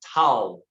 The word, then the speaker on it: Tao: And though Toastmaster Joni did her best to pronounce it right, it is Tao.